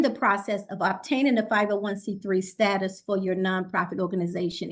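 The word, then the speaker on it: 501(c)(3): status from the IRS it's a tongue twister it's 501 then it's the letter c then three cuz sometimes we get confused and say it wrong so 501c3 we have to ensure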